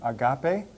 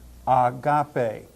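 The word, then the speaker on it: ἀγάπη: word means don't you Agape means love and you hear how I pronounce the word with a smooth smooth breathing Mark at the beginning of it Agape in distinction to the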